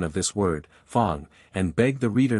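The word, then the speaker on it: Fang: in the African dialects the sound of the letter a is like that in the word father the whole Fong tribe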